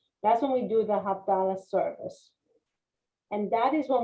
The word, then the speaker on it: Havdalah: Havdalah.